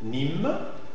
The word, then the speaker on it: Nîmes: Il faut marquer le consonne à la fin. Je sais que c'est difficile pour nous, pour les hispanophones, parce que la tendance, c'est à faire une prononciation plus détendue, mais il faut le marquer en français.